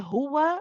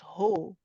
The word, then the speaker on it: هو: Are you saying bel huwa or are you saying bel huwa? It has to be hu, not ho. Okay, so we need to make sure it's a u sound.